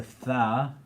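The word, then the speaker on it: ث: Then the 4th letter is a tha, and it's like the English word theta. Right, so you want to like be conscious of where your mouth is going organically, where your tongue is placed as you're pronouncing these things, right? So when you say tha, as in theta, your tongue should be going to the top part of your mouth, right?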